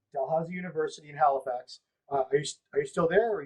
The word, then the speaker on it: Dalhousie: the white school or unit dal i can't pronounce that how do you say it dalhousie dalhousie university in halifax uh are you are you